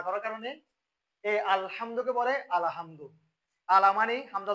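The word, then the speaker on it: الحمد: আমি দুইটা লিখলাম একটা হচ্ছে আমরা পড়িয়ে এটা উচ্চারণ হবে আলহামদু আর এখন বর্তমানে অনেকজন ভুল করে কি এরকম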